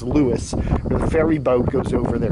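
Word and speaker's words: Lewes: in the area but it's actually pronounced Lewis ferry boat goes over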